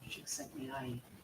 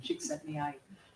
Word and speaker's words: Csikszentmihalyi: It was named by a psychologist named Csikszentmihalyi. I just did that because I learned how to pronounce his name. It feels good to say it. Csikszentmihalyi.